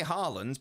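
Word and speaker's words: Haaland: So I don't say Harland because Holland sounds more fun. And also it was what I I used to listen to. I I don't much time as much time now, but on like to football podcast, Joe Divine and all the other guests would all say Holland. So I would also say Holland because that's where I heard it from him like watch Dortmund week in week out.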